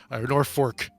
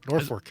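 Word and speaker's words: Norfolk: norfol is just uh Norfork which is just it's just horrendous it's really bad especially the fact that it's spelled with an L but pronounced with an R Norfork I it seems like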